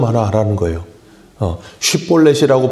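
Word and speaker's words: 쉽볼렛: 쉿볼렛이라고 발음을 하라는데 그게 십볼렛이 돼버리면 이제 에브라임 사람에게 판명이 나는 거예요.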